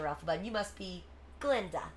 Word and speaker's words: Glinda: And you must be Glinda. The guy is silent.